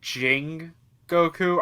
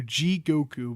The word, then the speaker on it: Jigoku: damn it also if i say jing goku i don't know why my brain likes aang and n yeah for some reason i'm saying it wrong he always adds an n it's j i g okay you g